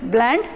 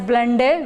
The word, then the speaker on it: blende: zinc so one is zinc blende some call it as blend a whichever is convenient for you you can call it as such so i usually pronounce